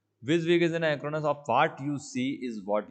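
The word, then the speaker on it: WYSIWYG: इसे प्रोनाउंस कैसे करते हैं, विज़विग, है ना, इसे ऐसा ही बोला जाता है विज़विग।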